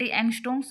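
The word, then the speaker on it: angstroms: डीएनए का diameter होता है 20 एंगस्ट्रोम्स। मैंने बताया और जो ये है एंगस्ट्रम्स बोलते हैं इसको। ए एन जी एस टी आर ओ एम इसकी स्पेलिंग है ये एंगस्ट्रम्स।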